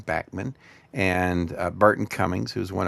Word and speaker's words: Bachman: But the Guess Who was first around with Randy Bachman who pronounces his name Backman, and Burton Cummings, who's one of my favorite heroes.